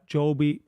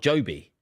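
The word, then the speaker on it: Jobe: Uh Big Dog says, "Thoughts on championship player Joby Bellingham who from the championship excite." His name You don't pronounce the be. It's not Joby. Joby won. No, it's from the Bible. Job.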